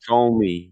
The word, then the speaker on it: Ptolemy: Ptolemy. The P is silent. It's Ptolemy.